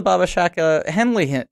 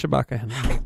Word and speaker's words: Shabaka Henley: But it's the same thing as the Baba Shaka Henley thing, where it's like, how much Barry of this... Shabaka Henley.